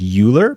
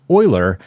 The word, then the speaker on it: Euler: Now, I understand this looks like Euler, but it's actually pronounced Euler, and we can better translate that into more direct x, y, and z values that our brains can better comprehend.